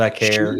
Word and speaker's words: Vaquer: And then Stephanie Vakir, is that how you say her name? She Vaquer.